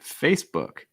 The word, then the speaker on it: Facebook: that face excuse me facebook facebook i think the key thing is the uh sound for book book an often mispronounced word